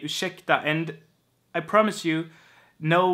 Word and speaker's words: ursäkta: And ursäkta is not pronounced ursäkta, like a 40s movie, like you would hear in an old movie maybe. Ursäkta, ursäkta, fröken. You are going to pronounce R and S like sh, ursäkta.